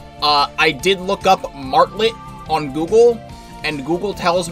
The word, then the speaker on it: Martlet: uh he he was saying her name is marlay like it's it's supposed to be pronounced weirdly and be pronounced marlay uh I did look up martlet on Google and Google tells me martlet is